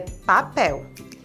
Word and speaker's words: Papel: Poderia ser Miguel ou Rafael, ou quem sabe Maribel, mas é Papel e se escreve com essas letras, P-A-P-E-L, Papel.